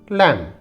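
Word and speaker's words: lamb: उच्चारण होगा टॉम टॉम यहां पर बी साइलेंट तो इसे हम पढ़ेंगे लैम लैम यहां देखिए बी साइलेंट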